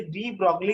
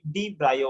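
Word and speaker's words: de Broglie: आता हे डी ब्रॉग्ली जे आहे ना याचं जे करेक्ट प्रोनाउन्सिएशन आहे डी ब्रायो आहे.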